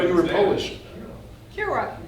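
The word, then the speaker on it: Kiewra: Because I Have I mispronounced all these years? before I knew you, What's your- I just assumed it was Kiev, you were Polish. Kira, right?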